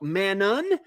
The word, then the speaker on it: Manon: And when in doubt, drop the last continent, the last letter. Like if there is an N on the end, like Manon, if it's spelt Manon, the name is Manon.